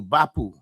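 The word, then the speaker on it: Barpu: Yeah, that's the pronunciation. Bapu. It's Bapu. Yeah. B-A-R-P-U. Bapu.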